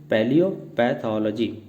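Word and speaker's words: paleopathology: तो यहाँ पर फाइनली हमारी प्रोनाउंसिएशन है पैलियोपैथोलॉजी।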